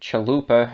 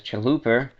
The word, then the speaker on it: Chalupa: let's see I thought your pronunciation of Chalupa as Chaluper sounded like the way my father would pronounce it.